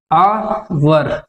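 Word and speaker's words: hour: है ना गा हम हिंदी में आवर यहां पर आ का साउंड आ रहा है जो हिंदी के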